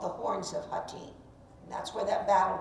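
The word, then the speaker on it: Hattin: the Crusaders at the Battle of hatim and when you were in the area of the Galilee oh yes the team h-a-t-t-i-n mispronounced hatim when you were on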